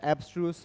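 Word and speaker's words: abstruse: इसको ऑब्सस एब्स्ट्र्यूस। ठीक है? इस तरीके से प्रोनाउंस करते हैं।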